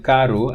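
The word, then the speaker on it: carro: but here even it's even though it's intervocalic when it's double r it is uvular so that's the difference in karu and in portugal portuguese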